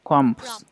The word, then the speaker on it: crumbs: into little climate crumb crumbs combos silent b crumbs crumbs what is that oh